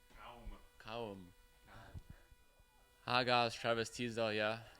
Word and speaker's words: Cowm: Cowm. Cowm.